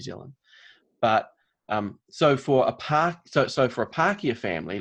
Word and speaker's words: Pākehā: Spell it for me. Pakeha. Pākehā.